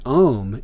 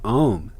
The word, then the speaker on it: om: middle and the end this sign in fact breaks down into a-u-m or om i.e the three latin letters which correspond to the three constituent elements of the mono-syllable ohm the vowel o and sanskrit being formed by the union of a and u the association of this